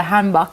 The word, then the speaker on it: 한복: Simi has on the hanbok.